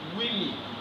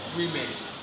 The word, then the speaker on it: women: So if you notice very well, the letter O here takes the position of E sound. So it stands as E. Then the letter E also stands as E, and it is pronounced as women, not women.